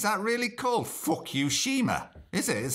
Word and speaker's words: Fukushima: well just read that it's that really cool Fukushima this is how you pronounce it that's how it's spelt Fukushima they